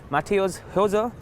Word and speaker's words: Matthäus Hose: today first of all thank you for pronouncing my name correctly it's not easy I'm sorry for my